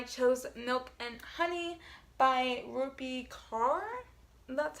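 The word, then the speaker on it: Rupi Kaur: yet but I chose milk and honey by rupee car that's how you say it but everyone knows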